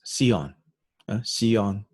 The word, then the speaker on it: Seon: the zen tradition in in korea this is pronounced as seon chan zen an example